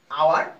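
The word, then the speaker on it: hour: আওয়ার, আওয়ারের same quality, এখানে দেখা যাচ্ছে এইচ এর উচ্চারণ আসতেছে না, যার কারণে এখানে হবে অ্যান।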